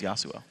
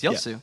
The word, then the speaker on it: Yasuo: more times you mispronounce Yasuo Yu Yasuo yosu okay yosu Yu there we go you're pronouncing wrong it's yosu all right guys thank